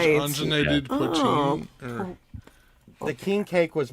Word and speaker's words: poutine: poutine. Poutine, I think. is how you Speaking of the pronounce it.